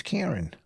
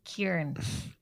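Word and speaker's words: Kerryn: like that it is it's karen it's karen oh i always been getting that wrong it's because it's spelt k-e-r-r-y-n you always say kieran that now i started saying kieran all the time to her just because you say it like that didn't she get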